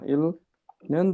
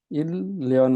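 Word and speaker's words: 일년: अब सिनोबाट जानु पर्यो के भनिन्छ इल भन्ने इल न्यन तर यसो शुद्ध उच्चारण इल्यल हुन्छ है इल्यन यसो शुद्ध उच्चारण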